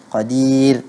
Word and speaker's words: قدير: Ah, itu dibaca tarqiq kalau kita berhenti pada qadir.